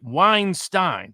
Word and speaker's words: Weinstein: time so it's like Weinstein so it's like a big Stein of good wine so if I got